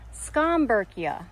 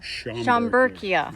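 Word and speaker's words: Schomburgkia: So, it's Scamberkia. Scamberkia. Everybody calls it Shamberkia, right?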